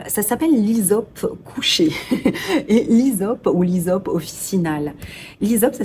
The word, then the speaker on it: hysope: essentielle alors c'est ça s'appelle l'isope couché et l'isope ou l'isope officinal l'isope ça s'écrit avec un H Ys o PEE c'est